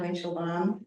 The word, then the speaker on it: Winchel: us um I'm winchel my name name is a little bit hard to pronounce but it sounds the way it looks um she her and